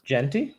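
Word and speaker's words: Jeanty: How do you pronounce his last name, Chris? Genty.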